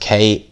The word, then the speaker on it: Krassyuk: It says, Oleksandr Usyk's K2 promoter, Alex Krasek, it's pronounced Krassyuk, probably saying it way wrong, has confirmed the WBO